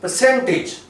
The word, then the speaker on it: percentage: sound or say this word percentage. That is incorrect. That is percentage. Here this is schwa sound and percentage. No, suffix should come here, percentage, here, because where we have got schwa in the syllable, it cannot have stress on it. Stress should come here at this syllable, on this syllable, percentage. And this word is sewage, sewage, sewage, AGE.